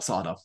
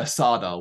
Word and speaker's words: Sardo: anything and of course it's not sarda we should say this it's Mr sardo with an accent on the doll we do say that